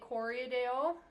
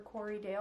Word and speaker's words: Corriedale: It's a Corriedale, or Corriedale. I always add like an extra syllable on there. Corriedale. Corriedale. It depends on who you ask.